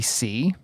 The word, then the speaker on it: See: But when they first introduced her, they said her name was Susie C. And I didn't know until her lower third came up that her last name is spelled S-E-E, like the word C.